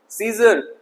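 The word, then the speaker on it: scissors: सीजर, कैंची, यहाँ सी silent है।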